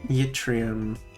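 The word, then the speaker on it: yttrium: No, it's it's English pronunciation. So, it's yrium. Yrium. Okay. Because the Y is at the start and so it functions as a consonant.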